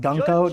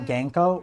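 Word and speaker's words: Gunko: Her name is pronounced Gunkko, not Genko. Wait, I'm not saying Genko. I'm saying Gunkko. The same sound as good.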